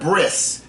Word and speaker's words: bris: come to this, and they call it a bris.